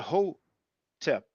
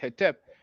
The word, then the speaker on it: Hotep: the O sound, because in the Coptic, we have the Hotep. For those who wonder about the vowels, there's a word that means brother. We usually pronounce it sen because it's the biliteral SN. But in the Coptic language, it's pronounced son, SON. So just similarly with the Hotep, which is HTP, some people pronounce it Hetep. We know with the Coptic that it is pronounced with the O, you see?